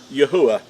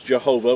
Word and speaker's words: Yahuwah: past, you know that his name is pronounced as Yahuwah. And it represents 4 Hebrew letters, and when they're pronounced and sounded out, then you'll have the pronunciation of Yahuwah. Now, in a lot of misinformation out there will, he's referred to as Jehovah, which he never was called Jehovah, and never.